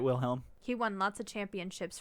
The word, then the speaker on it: Wilhelm: recognized world chess champion will helm not william wilhelm steinitz claimed his title in 1886.